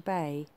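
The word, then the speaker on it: beith: the first tree the first letter pronounced beth or bay birch is the tree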